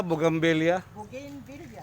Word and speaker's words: Bougainvillea: Ang ganda ng, ano bang tamang pronunciation po dyan? Bougainvillea? Bougainvillea. Bougainvillea po. Bougainvillea kung... Sa Tagalog, no? Bougainvillea. Pero Bougainvillea po talaga, no? Villa, Double L, Bougainvillea.